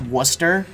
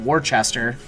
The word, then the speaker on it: Worcester: Louisville Louisville no it's it's 100% it's it's pronounced Wooster but I call it Worchester because look it's there's just no H there